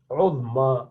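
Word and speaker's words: عظمى: Uzma, you're pronouncing alif at the end.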